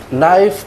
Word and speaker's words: knife: Ini nggak dibacakannya ya? Sama kayak pisah tadi. Ni. Jangan dibacakannya. Ni. Knife, ni. Jadi ini dibaca I.